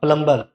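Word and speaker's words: plumber: नल fitting करता है प्लम्बर, वो प्लम्बर होता है, प्लम्बर नहीं होता है, क्या होता है प्लम्बर, ये बी जो है यहाँ पर साइलेंट होता है, प्लम्बर होता है, प्लम्बर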